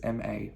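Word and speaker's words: mǎ: are usually used to the third tone is shaped like a v in the phonetic writing system of mandarin chinese pinyin and it is pronounced with those two letters m a ma a now again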